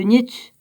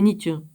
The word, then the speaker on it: Nietzsche: le célèbre énoncé de Nietzsche « Dieu est mort ». C'est pas moi qui le dis, hein, c'est Nietzsche. C'est Nietzsche, ou Nietzsche. Ouais, ben on doit le dire comme ça.